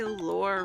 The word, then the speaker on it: lore: Well, Now I know I lore rhymes with bore.